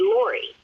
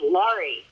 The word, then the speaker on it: Lauri: It was Laurie with an A, and everyone called me Laurie. And I couldn't stand it because it was L-A-U-R-I. It was Laurie. And I spent so much time trying to get people to say it correctly.